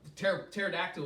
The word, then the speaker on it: pterodactyl: And pterodactyl was there. And I thought of this. I was like, how come you can't hear a pterodactyl go to the bathroom? Because its P is silent.